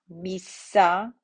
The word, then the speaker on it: missa: Double consonants, you're going to pronounce both of them. So ancilla, missa, peccatum, sabbatum, comito, comito, right? So all of the consonants are pronounced with just a small pause between the letters.